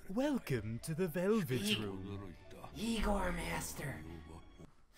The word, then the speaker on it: Igor: Igor Master. It's pronounced Igor.